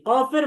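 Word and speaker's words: كاف: এবং কাফের মাখরাজ হচ্ছে এই কফের মতোই জিহ্বার গোড়া, তবে জিহ্বার গোড়া থেকে আরেকটু সামনে বেড়ে তার বরাবর যে উপরের তালু আছে, এই তালুর সাথে লাগিয়ে দিতে হবে।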